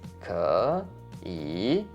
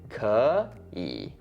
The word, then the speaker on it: 可以: So when you actually have 2 third tones together, the first one ends up sounding like a second tone. So actually it would sound like 可以.